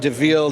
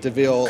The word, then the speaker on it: DeVille: That's the famed DeVille, DEVIL. We might say devil, but they pronounce it DeVille.